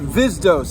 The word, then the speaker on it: Vizdos: It's pronounced Vizdos, and anybody who tells you to pronounce it differently is spreading a fucking thread of knowledge through the society to say my name the wrong way.